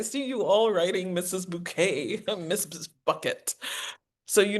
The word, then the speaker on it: Bucket: And the woman, you know, my name is Hiasin Bouquet and her last name is spelled B U C K E T.